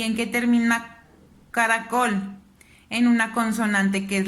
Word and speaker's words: caracol: en sílaba caracol caracol donde suena más mi voz en la esta palabra cada col me doy cuenta que su fila va tónica está aquí yo levanto más o hago más énfasis en col entonces esta es la